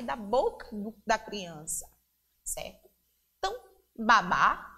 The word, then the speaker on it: babá: palavra é a mesma mas a pronúncia o que a pronúncia diferente por conta do assento ahh mudo e existe na última sílaba da palavra Babá e o baba